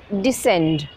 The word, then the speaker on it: descend: The C is silent. This flower has a wonderful scent. Descend.